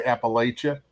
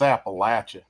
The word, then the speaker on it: Appalachia: A lot of people say Appalachia, and down home they'll look at you and say, it's Appalachia. Like you say Appalachia, we'll throw an apple at you.